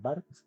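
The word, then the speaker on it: Barthes: Y uno de los autores que te puedo recomendar que hablan mucho de esto es Roland Bart. Eh, Roland Bartes, así se se escribe Bartes con una H por ahí y él habla mucho sobre estas estas figuras míticas.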